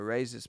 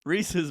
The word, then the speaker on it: rhesus: A racist monkey. No, a Rhesus? Reese's monkey. Yeah. Reese is a character. No, rhesus. It's a kind of monkey. Rhesus. I don't know how to say the word. Yeah, that's correct. A rhesus monkey.